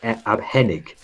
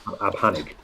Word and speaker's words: abhängig: If you didn't have the A umlaut, it's abhängig. So you can see it changes the pronunciation of the word, but it makes it so. So O umlaut is U umlaut is and A umlaut is air.